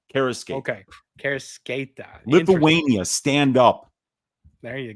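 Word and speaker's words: Kareckaitė: It's Karasketa. So like the C is like an S. So Karasketa. Okay. Karasketa.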